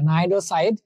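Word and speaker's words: cnidocyte: নিডারিয়াটা কি, এই যে নাইডোসাইড, হ্যাঁ, সিটা উচ্চারণে আসবে না, নাইডোসাইড।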